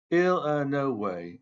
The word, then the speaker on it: Illinois: illino way stay line he pronounced Illinois ill a no way exactly the same way everyone in by Banks guny pronounced it